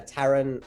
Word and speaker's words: Taran: No Brasil, os meus amigos me chamam de Tata, mas na Inglaterra é Taran. Taran.